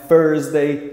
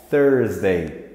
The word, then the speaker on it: Thursday: é isso aí parceiro o th em inglês tem esse som não tem como você fazer outra coisa OK não é testei não é first Day não é ser gay é thursday thursday então Aqui nós temos